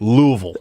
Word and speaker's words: Louisville: he say louisville does he say it right louisville that's good yeah i know it's good he